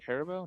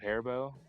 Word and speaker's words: Haribo: Or Haribo. Is that how you say it? Herbo, not hairbo.